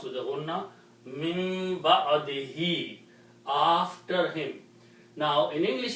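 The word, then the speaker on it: مِنۢ بَعْدِهِۦ: Again, by the rule of tajweed, if you have a ba and there is a noon before with a sukoon, then this noon is pronounced as mim.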